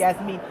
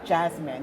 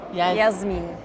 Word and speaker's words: Jasmien: Jasmien. Yeah, I've got a habit of calling her Jasmine, which is how we pronounce the name in the UK.